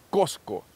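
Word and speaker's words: Qosqo: es el nombre original el nombre original en que he hecho es cosco que se escribe así cosco las otras dos son interpretaciones probablemente de los conquistadores españoles que no podían pronunciar bien la s y decían cusco y después los latinoamericanos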